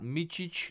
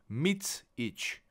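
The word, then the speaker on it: Micić: lot of times soon it's MIT not meich not mik or whatever it may occur to you mits each MIT MIT or you can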